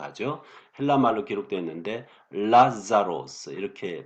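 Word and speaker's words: Λάζαρος: 헬라 말로 기록되어 있는데 라자로스 이렇게 발음합니다.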